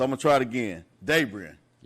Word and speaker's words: Dabrien: Dabrien.